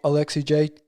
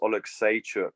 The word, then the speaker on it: Oleksiejczuk: It's like I believe it's pronounced Oleksiejczuk, but to be fair, most of my training partners are Polish, so I've been getting the hints from them on how to pronounce it properly.